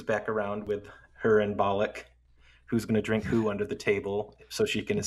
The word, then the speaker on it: Belloq: Uh Belloq? Belloq, yeah.